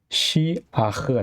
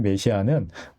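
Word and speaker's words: משיח: 기름 부음을 받은 자, 하게 되면 마시아흐가 됩니다. 마시아흐. 우리는 이거를 메시아라고 음역을 하는데 엄밀히 말하면 메시아는 틀린 발음입니다. 마시아 이게 올바른 발음입니다.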